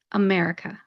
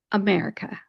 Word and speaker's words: America: So when you pronounce it, you really want to turn it into that schwa sound, a UH type sound, and pronounce it America. America.